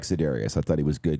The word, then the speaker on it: Za'Darius: Za'Darius. Whatever his name is. That dude. You flipped the syllables. Did he say Za'Darius? It'd be like Kyler Murray. I said Za'Darius Smith.